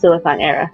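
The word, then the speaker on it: Siliconera: now actually yes the website is pronounced silicon era just cuz I'm looking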